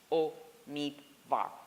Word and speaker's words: Omidvar: and I say senator the product connect correct pronunciation of my name is Oh meet Bob how difficult can this be so I just